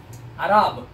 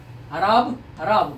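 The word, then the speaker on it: ערב: Arab. Same thing, right? Arab, but this R is the long R sound, isn't it? Open R, right? So kametz and padach, right?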